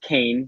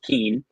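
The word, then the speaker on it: Kean: And yes, it is pronounced Kane, not Keen.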